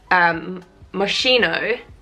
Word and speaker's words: Moschino: one thing I didn't know actually was that Moschino is Moschino because it's Moschino in Italian that